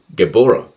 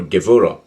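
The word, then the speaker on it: Gevurah: From Tifereth, one progresses to Gebora, or Gevora, depending on how you pronounce it, which is Sephiroth number 5.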